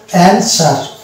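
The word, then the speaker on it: answer: Next word হচ্ছে অ্যানসার। অ্যানসার এখানেও দেখতে পাচ্ছি W কোনো উচ্চারণ আসছে না।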